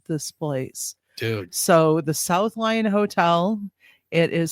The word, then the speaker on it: South Lyon: Spelled with a Y. It's not Lyon. It South Lyon.